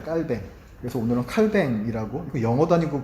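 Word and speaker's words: Calvin: 칼빈 아시죠? 칼빈. 칼빈은 영어식으로 발음이고 원래 프랑스 사람이에요, 이 사람이. 그래서 원래 깔뱅입니다, 깔뱅.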